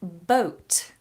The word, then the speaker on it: boat: some mica has asked the difference between the pronunciation of bought something I pay for I bought it bought and boat something that you sit on to float in the water bought to buy boat to sail one it's a long vowel or bought and a boat is diphthong Oh boat